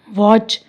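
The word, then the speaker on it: watch: टी सी एच, टी सी एच, टी सी एच, तो इसमें T silent है। वॉच, विच, मैच, स्क्रैच, fasten, listen.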